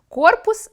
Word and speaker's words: корпус: Окрім пояснення слова, тлумачний словник фіксує правильні наголоси (корпус — на «о») та деякі граматичні відомості (корпус — іменник чоловічого роду).